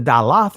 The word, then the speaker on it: Daleth: The Daleth, or the Dalath, rather, is the ancient pronunciation of it.